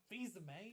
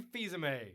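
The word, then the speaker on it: Fils-Aimé: all you need to know rowdy Reggie no visa mate it's Reggie fils-aime a the dude that used to run Pizza Hut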